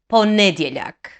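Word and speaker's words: ponedjeljak: look it's just the differences in this first syllable but neither is correct so practice with me okay monday is poneblac again ponedilak tuesday is uttorak again wednesday is again thursday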